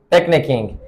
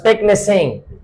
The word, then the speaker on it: picnicking: Picnicking. If you do not add K, then you will pronounce it as picnicking, which is not the pronunciation of this word.